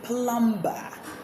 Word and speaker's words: plumber: Have you been saying plumber? Have you been saying debtor? Have you been saying thumb, comb? The B's should be silent in them, all of them.